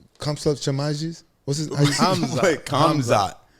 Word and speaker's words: Hamzat: Hamzat. Hamzat. I'm saying it right. Like H. Hamzat. Like hummus? No. Oh my God. Slut? No, there's no slut in the word.